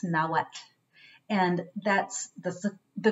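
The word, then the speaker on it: Nahuatl: the yuto nawa na what till but it's pronounced nawat and that's the the correct we should work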